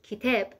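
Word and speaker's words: كتاب: Book in Arabic is kitab, in Persian is ketab.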